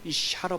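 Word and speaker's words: אִשָּׁה: 근데 그것을 발음하기를 이샤로 발음한 것입니다.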